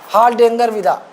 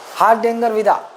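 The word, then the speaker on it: Hardangervidda: इसकी सबसे ऊंची चोटी है, ये देखो, डेंगर पढ़ेंगे, डेंगरविदा, हार्डेंजरविदा, हार्डेंजरविदा ना।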